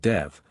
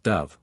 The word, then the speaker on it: Dev: hold an agricultural festival called Dev which should on no account be pronounced Dove which means burning ground a bizarre shopkeeper who